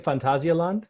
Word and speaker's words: Phantasialand: on Terran yeah and I appreciate you saying fantasy island because that's how it's pronounced but you need to